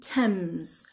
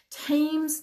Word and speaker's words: Thames: شماره 4 برای یه جایی هست توی لندن به اسم یه رودخونه دریاچه رودخونه بهش میگیم تمز. فکر کنم میگه همه میشناسن تمز. من شنیدم خیلی ها میگن تیمز نمیگیم.